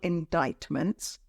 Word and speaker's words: indictment: someone is facing multiple indictments um it means and careful of the pronunciation the pron assciation is indictment it's not the same as how it's written it means that this